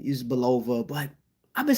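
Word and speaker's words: Bulova: guest sponsors was Islander watches uh belov or boua I like to say boua I know the pronunciation is Bova but I've been saying boua my whole life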